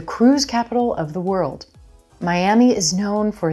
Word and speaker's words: Miami: vowel it's very quick now notice there's a hidden Y sound at the beginning of that second syllable as we Glide between vowels so it's not my ah me Miami Miami did you know Miami